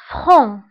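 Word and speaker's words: franc: صريح فران، فهنا سي لا ننطقها، نقول فران.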